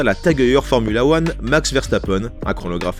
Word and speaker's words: Max Verstappen: Dans le trio de tête du classement fin 2020 du circuit international de Formule 1, on retrouve Max Verstappen, qui se prononce d'ailleurs Max Verstappen.